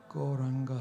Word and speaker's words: Gauranga: golden Lord Of Love goranga has four syllables for those of you